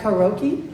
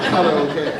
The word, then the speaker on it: karaoke: Some of us pronounce things right. Like karoki. You mean karaoke?